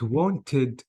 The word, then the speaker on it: wanted: Notice, guys, the ED here, I have to say missed without E sound, played without E sound, but wanted, I pronounced the E sound.